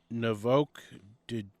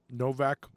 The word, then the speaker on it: Novak: Novok Djokov. I don't know how you say that at all. I might have butchered it. Anyway, let me see it. He's Novak Djokovic.